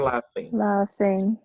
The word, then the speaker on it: laughing: Or laughing. Laughing. Se liguem aí que essa pronúncia do GH em inglês, ela tem a pronúncia de F para nós, tá, gente? Laughing, enough. Lembrem disso aí.